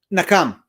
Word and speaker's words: Nakam: say the name because I think I just butchered it or nakam okay okay um it's derived from the Hebrew